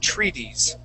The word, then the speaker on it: treaties: word is treaties okay that that second t is going to feel like a d treaties very good so this